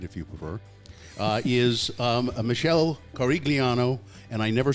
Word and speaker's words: Corigliano: No, it's Corigliano. See, and I can't do that. But nobody says that. I can't do that. Well, my sister-in-law yells at all of us because we don't even say it right.